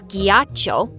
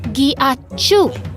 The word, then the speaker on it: ghiaccio: No, it's not ghiaccio. It's pronounced ghiacciu.